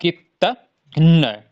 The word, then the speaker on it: कृतघ्न: कृतघ्न ऐसे करेंगे तो इसका उच्चारण थोड़ा घूम जाएगा। जबकि आपको क्या करना है? कृतघ्न, इतना ही कहना है। कृतघ्न, ठीक है? कृतघ्न, ऐसे ही कहेंगे।